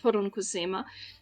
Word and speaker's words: poronkusema: give you a word this is a Finnish word that is uh pronounced pona and uh this is